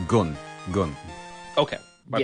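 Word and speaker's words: 軍: That gun, it's the same word as like Shogun. It's the same gun. So I thought that just to be clear, it's actually pronounced gun.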